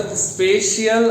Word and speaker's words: spatial: केवल स्पेशियल arrangement. Spelling है SPATIAL, स्पेशल नहीं, स्पेशियल, राइट।